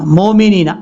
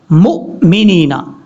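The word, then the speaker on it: المؤمنين: جلدی میں پڑھ جاتے ہیں وَلِلْمُؤْمِنِينَ. مومنین ایسا نہیں کرنا. مؤمنین حمزہ کو جھٹکا کے ساتھ، وَلِلْمُؤْمِنِينَ.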